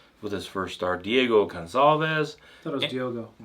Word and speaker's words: Gonçalves: Yeah, because it kind of looks like an S if you draw an S all the way up, but it's spelled with a C, but it makes the S sound with the little hook in there.